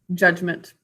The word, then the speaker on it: judgment: Judgment. Okay, so the word is judgment. Let's sound it out together. Judgment. 2 syllables. First syllable is judge.